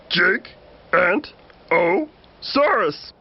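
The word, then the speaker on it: Giganotosaurus: You say my name like this. Jig-Ant-O-Saurus.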